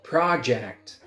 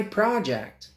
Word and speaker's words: project: many words in English for example project it's a noun look at my project but if it's a verb you say project it's projecting Rabel Rabel